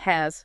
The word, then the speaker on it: has: Has. Was. The key here is the sound at the end. It's actually a soft Z sound for both.